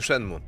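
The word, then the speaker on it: Shenmue: do szedł szedł mu mówisz tak czyta się szenmu Mówisz teraz codziennie na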